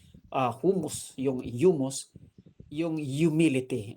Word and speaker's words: humus: Yung humus may h pero hindi pronounce ang H. Ah humus yung humus yung humility.